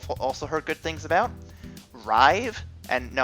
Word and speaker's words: Rive: heard good things about, Rive, and no, I'm not mispronouncing that, it's R-I-V-E, Rive, Runbow, Runbow, get hype.